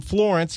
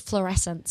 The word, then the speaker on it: Fluorescence: It is called Fluorescence, but that's a very easy mispronunciation. Is that an English pronunciation thing, or did I just say it?